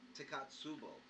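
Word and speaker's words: Takotsubo: Yeah, and I don't want to shred it, but it's pronounced Takatsubo.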